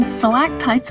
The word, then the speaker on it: stalactite: explain the difference between stalactites and stalagmites. Most of the time you'll hear it this way, but that doesn't solve one key issue. My pet peeve of people pronouncing them both with a G.